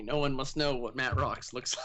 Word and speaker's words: Mattroks: It is Mattroks. Okay, great. It's not Matrox as opposed to what many people seem to think it is.